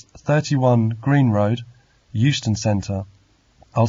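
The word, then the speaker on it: Euston: yes it's Steve Smith of 31 Green Road Houston Center London nw14 sorry I didn't catch the address could you repeat it yes it's 31 Green Road Houston Center I'll spell it e u s t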